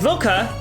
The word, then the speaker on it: Lilka: Because Lilka might die. If Undines here attacks Luca right here, Lilka, her name in the Japanese version is Ryuka, which is why I keep saying her name wrong.